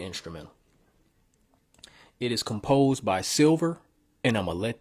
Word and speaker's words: $ilver: But yeah, his name is Silver. And Silver is spelled with a $, not a regular S.